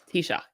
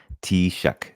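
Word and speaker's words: Taoiseach: like okay you ready so T uhhuh Shock t-shock that is like to to spell it out there in h radioland it's t a o i s a c and say it again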